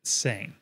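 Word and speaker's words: seing: french word for signature the g is not pronounced so you could say it like saint without the t sound it would be close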